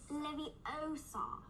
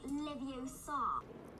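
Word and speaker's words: Leviosa: at all times besides you're saying it wrong it's Lev Oar not Levar the fictional character I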